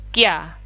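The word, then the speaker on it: キャ: Tapi kalau kecil, ya-nya jadinya kya.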